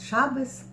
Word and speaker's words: шабес: Например, там шаббат говорят шабес, но это все-таки ивритское слово.